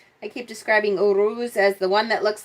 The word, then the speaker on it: Uruz: First of all, the pronunciation that I'm getting from most people is Uruz. I've also heard it Uraz, Uras, Uruz. So I'll probably be saying Uruz for the most part today.